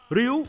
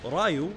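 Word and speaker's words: Ryu: was a slight problem Ryo or Rayo like they pronounced it in the movie isn't the main hero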